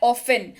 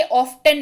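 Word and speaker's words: often: और ये शब्द है ऑफन। क्या शब्द है? ऑफन। टी का उच्चारण नहीं करेंगे, ऑफ्टन नहीं पढ़ेंगे। कृपया करके इसको ऑफ्टन ना पढ़ें, that will be absolutely wrong.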